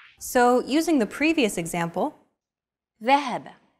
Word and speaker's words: ذهب: Classical Arabic will be written like this. And pronounced ذهب. Modern standard Arabic, however, would remove the vowels, so it would appear like this. And be pronounced ذهب.